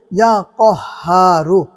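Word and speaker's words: يا قهار: সম্মানিত দ্বীনি ভাই ও বোনেরা এখন আপনাদেরকে বলে দিব ইয়া কহারু। উচ্চারণটা অবশ্যই খেয়াল রাখবেন যে এখানে কাফের উচ্চারণ হবে না। কফের উচ্চারণ করতে হবে।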